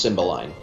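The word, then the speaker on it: Cymbeline: an English play so you don't give it uh any kind of influenced pronunciation from the continent it's just symbol line H cuz I know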